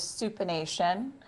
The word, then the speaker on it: supination: The hand, when the hand is palm up, it is supination. If you imagine you're holding a bowl of soup, which rhymes with supination, okay, the palm would be face up.